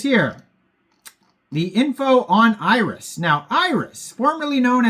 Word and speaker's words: Irys: Every time I say Irys, just know that it is spelled IRYS.